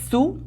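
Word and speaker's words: Sioux: nombre, era un líder su. El el la palabra su realmente se escribe s i o u x, pero como viene del francés ni la i ni la x se pronuncian.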